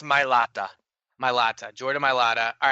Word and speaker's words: Mailata: Mailata, Jordan Mailata.